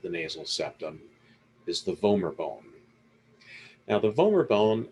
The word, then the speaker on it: vomer: called the vomer bone just think of like vomer rhymes with homer homer simpson that's this little blue